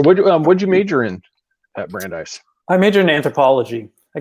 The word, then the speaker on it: Brandeis: You also got, I'm going to butcher the university, so I'm going to let you, and I want to say it's Brandeis.